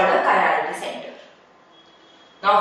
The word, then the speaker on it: chirality: The word is pronounced as chirality.